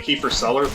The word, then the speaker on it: kefir: It's like kefir, but I like to pronounce it like Kiefer Sutherland.